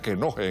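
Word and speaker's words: Knoche: El caso, por ejemplo, del drctor Canoche que se pronuncia queoje en alemán.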